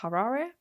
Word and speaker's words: Harare: Um, of which the capital is Harare. Not sure if I probably butchered that.